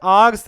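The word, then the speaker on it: hours: आर्स है, इसमें H silent है, और डिस्टेंस, डिस्टेंस क्या है बेटा?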